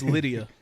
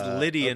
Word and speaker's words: Lydian: No, it's Lydia. It's Lydia. It's Lydian, okay. but spelled with a T and Lit, like it's lit. There's a difference. It's Lydian, like Liddy.